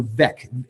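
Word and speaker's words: Weg: top right so Beck w-e-g and the g sounds like a K in German there's a chorus in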